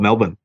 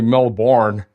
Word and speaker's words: Melbourne: How about Melbourne? Did I say Melbourne right? You did say Melbourne right. That's very rare for North American. It's normally Melbourne.